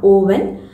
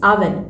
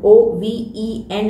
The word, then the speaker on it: oven: അവൻ the pronunciation is അവൻ ഇറ്റ് ഇസ് നോട്ട് ഓവൻ The pronunciation is oven. O-V-E-N is pronounced as oven.